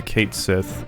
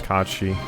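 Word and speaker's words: Cait Sith: I've definitely gotten out of the habit of calling it uh Kate Sith like I always did as a kid after finding out that the actual pronunciation is Kachi.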